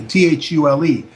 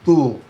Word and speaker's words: Thule: the Brill society and the Thule society THU le some times people mispronounce it fool but it was known